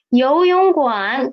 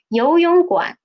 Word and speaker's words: 游泳馆: This one can be a little bit tricky because there are two third tones. So for the pin, we cannot see any space in between. What should we do? We will just separate into the first two and the last one, right?